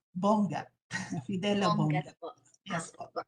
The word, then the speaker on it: Bongat: I just want to correct my the pronunciation of my surname, Bongat.